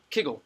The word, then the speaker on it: kugel: like a coriander seed what is the word for circle in Hebrew anyone anyone ego right can't eagle like a round right that's why Kegel is the right way to say that's what it's the right way to say it Kegel not only that not